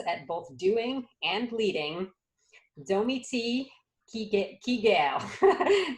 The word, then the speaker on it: Domi Kiger: both doing and leading, Domi Kiger. That's how you say it in French. She just coached me through, but in America we say Domi Kiger.